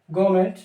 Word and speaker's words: government: है तो लिखेंगे गवर्नमेंट, गवर्नमेंट जॉब, GOVERNMENT। यहां पर एन साइलेंट रहती है।